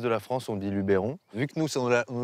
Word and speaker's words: Luberon: On ne dit pas Luberon? Non, alors non, parce que ça vient du provençal Luberon. Donc c'est Luberon. Alors effectivement, dans tout le reste de la France, on dit Luberon.